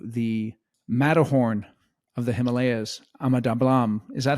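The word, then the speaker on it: Ama Dablam: wonderful trip to the matorn of the Himalayas amadam is that how you pronounce it tell us about that yeah yeah amadam it means uh mother's necklace yeah that mountain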